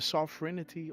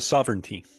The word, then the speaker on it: sovereignty: Sovereign, the sovereignity of America. How do you say that? Yeah, the sovereignty.